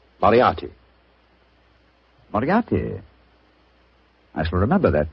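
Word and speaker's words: Moriarty: People will either misspell it or mispronounce it. I'm afraid I'll have to begin calling it the way it looks. M O R I A R T Y. Miati. Moriati.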